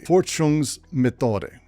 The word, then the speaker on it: Forschungsmethode: First up, we have the mode of investigation, Forschungsmethode.